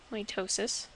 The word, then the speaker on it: mitosis: the first one here mitosis that's how it's pronounced mitosis the purpose of mitosis is for cellular division